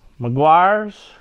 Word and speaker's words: Meguiar's: Dawn dish over something say it right Maguire's quick detailer I like